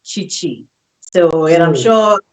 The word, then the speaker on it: Cicci: So, a lot of Yeah. people pronounce it. Meanwhile, it's supposed to Yeah. be Chichi. With the accent of the H in it.